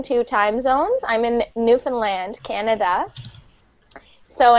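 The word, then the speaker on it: Newfoundland: time zones I'm in newfinland Canada so in Newland it's spelled new found land um we are a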